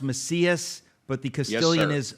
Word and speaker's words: Macias: And now it's pronounced Macias, but the Castilian is Macias.